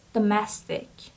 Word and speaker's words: domestic: word is domestic domestic so the syab the stress is on the second syab so it's domestic domestic the messing means are